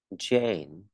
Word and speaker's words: Jane: Ok, mình sẽ không đọc là Zen. Zen là sang âm Z rồi nhé. Giờ Zen. Mình không đọc là Yen. Yen là sang âm dễ dãng vậy. Mình cũng không đọc là Chen. Chen là sang âm chờ rồi. Mình đọc là Jane.